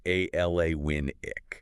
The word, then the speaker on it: Alana Winnick: And just for everyone listening, that pronunciation is Ala Winick, right?